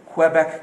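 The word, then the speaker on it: Québec: Otherwise तो QUE का sound सिर्फ क्व होता है, क्व।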